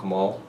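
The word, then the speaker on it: Khamûl: Um, I play an Easterling force, so I'm partial to Kamal. Kamal, am I saying it right? Yeah, Kamal.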